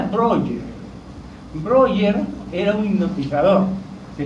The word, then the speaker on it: Breuer: Se pronuncia Breuer.